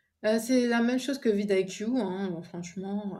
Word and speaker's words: vidIQ: Moi, j'utilisais beaucoup vidIQ, donc VIDIQ. Alors, je voulais prononcer à l'anglaise vidIQ, vidIQ, voilà, en français.